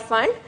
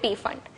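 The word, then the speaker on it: Pfund: Okay, again P is silent here, it's called Fund. However, in our school, just to remember the spelling, we used to call it P Fund.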